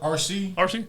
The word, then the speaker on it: Arcee: RC.